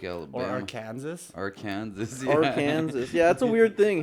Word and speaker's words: Arkansas: Arkansas. Yeah, that's a weird thing, hey? How Kansas is pronounced Kansas and Arkansas is pronounced Arkansas.